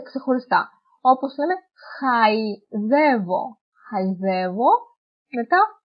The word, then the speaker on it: χαϊδεύω: Όπως λέμε, χαϊδεύω. Χαϊδεύω. Μετά, τρόλεϊ και λαϊκή. Αν δεν ήταν τα διαλυτικά, θα το διαβάζαμε ως σχεδεύω, τρόλι και λεκή.